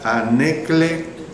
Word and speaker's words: anekletoi: Se lo repito, irreprensible, la palabra griega anekletoi, o sea, con K cuando pronuncio la sílaba cle, ¿ve?